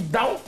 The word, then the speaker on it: Tao: Parce que prononcer en chinois, en mandarin, on dit Dao. Dao, Dao, Ting Tao Tung, Dao. Mais en français, on dit Tao.